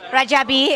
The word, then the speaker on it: Rajabi: with Nadine yes Nadine nagar niggar uh richabi rajabi if you will it's a bilingual right that's